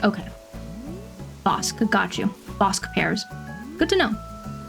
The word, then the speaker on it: Bosc: It seems like Bosch is Bosque is pronounced with a K sound.